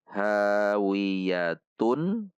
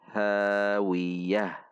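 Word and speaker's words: هاوية: tanwin Tun satu harakat Namun karena di akhir kalimat maka Ta marbutah ini disukunkan sehingga berubah menjadi ha cara membacanya hawiyatun menjadi hawiah Mari perhatikan panjang dan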